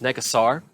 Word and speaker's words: Nekusar: to that player now the correct pronunciation of necklace oars neck asar but I've called it that I've called it NICUs or forever like a dinosaur I